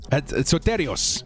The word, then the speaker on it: Soteros: and saay man Sato soteros I should say soteros is how you say his name you guys are legends